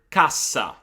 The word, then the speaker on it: cassa: What I always say to those students is to make the vowel that is preceding the syllable containing the double consonant a little bit shorter. Let's take, for example, the word cassa.